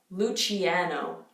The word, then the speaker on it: Luciano: most of these names when you see an eye after a C or after a G it's just to soften the scene to soften the